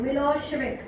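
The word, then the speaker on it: Milošević: उसका प्रोनाउंसिएशन शेविक होना चाहिए, मिलोशेविक, ठीक है।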